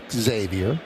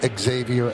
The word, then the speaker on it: Xavier: Though his first name is spelled like the college Xavier, he asked that his name be pronounced Xavier. So, it's Xavier Edwards.